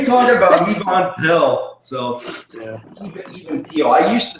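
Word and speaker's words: Even Piell: Even Peel. Not Yvonne Pell, but even Peel.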